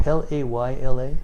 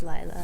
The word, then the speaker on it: Lila: Is it Layla? Yes. Okay. It's spelled Layla, but it's Lila.